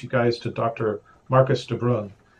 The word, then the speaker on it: DeBrun: Marcus DeBrun. Is that I pronounce it correctly, DeBrun? Yeah, that's right. It's the Irish for brown.